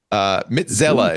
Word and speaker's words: Mitxela: Mitzela is how you pronounce it.